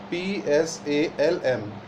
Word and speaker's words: psalm: The word psalm is written Psalm, but in pronunciation it is psalm, not psalm or like.